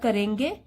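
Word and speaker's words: corps: बोलते हैं कैडेट और यह जो स्पेलिंग है इसको तो बहुत सारे स्टूडेंट्स गलत प्रोनाउंस करते हैं this is आर पी एस इसमें साइलेंट होता है कोर इसको क्या बोलेंगे कोर स्कूल कडिट कोर तो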